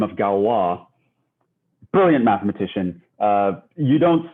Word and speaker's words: Galois: so it's it's it's it's spelt like galois but it's pronounced galwa um and you know